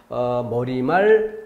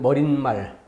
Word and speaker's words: 머리말: 그런 것처럼 머리말, 인사말. 니은을 넣는다면 머린말, 니은을 넣어서 인산말. 얼뜻 들어보면 그렇게 발음하는 게 맞지 않나? 라고 생각할 수 있어요.